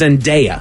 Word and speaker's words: Zendaya: It is Zendaya.